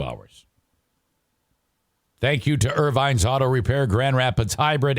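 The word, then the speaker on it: Ervines: Irvines. They don't spell it I-R. It's E-R Vines.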